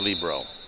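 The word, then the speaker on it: libero: point serving for Miami traces Sydney Carter the Libro and behind four to five and she serves in the net cutting the green view back ahead six to four by the way I say Libro if you go to the college if you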